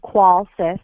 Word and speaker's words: Qolsys: quality of life systems pronounced qual sis like quality we're dedicated to improving